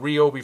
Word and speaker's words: Ryobi: I'll start saying Ryobi from now on because that's how it's pronounced.